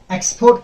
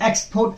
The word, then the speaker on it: export: loader longer exposed now you can differentiate here between export as a noun and export as a verb okay when you use it as a noun you have to pronounce it as export first syllable stress when as a verb export second word sorry second syllable sit rest okay you can